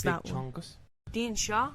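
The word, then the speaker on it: Dindshenchas: The Dinshonkus. Dinchonkus. I might have to pronounce Big that one. chonkus. Dean Shaw. I just raw. Dean Shaw. The The Dean Shaw, a medieval collection of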